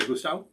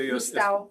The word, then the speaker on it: Lustau: I'm sure I mutilated the pronunciation, but hi, Jamie. Good to see you. You say Lustau? Yes. That should be about right. This is a Lustau.